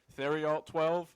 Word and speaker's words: Theriault: My name is Mick Miller, and joining me are NMR Sports and Nick Theriault12, because that's how you say his name.